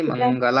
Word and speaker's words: ಮಂಗಲ: ಸಂಸ್ಕೃತದಲ್ಲಿ ಮಂಗಲ ಅಂತಲೇ ಹೇಳಬೇಕು. ನಾವು ಕನ್ನಡದಲ್ಲಿ ಮಂಗಲನ ಹೇಳ್ಬೋದು, ಮಂಗಳನ್ನು ಹೇಳ್ಬೋದು ಕನ್ನಡ ಆದ್ರೆ.